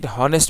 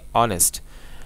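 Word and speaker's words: honest: আমরা কি হনেস্ট বলেছি? হনেস্ট কিন্তু বলি না, আমরা বলেছি অনেস্ট। তাহলে যেখানে এইচ এর উচ্চারণ সাইলেন্ট থাকে, এইচ এর উচ্চারণ যেখানে হয় না, সেখানে কি বসে?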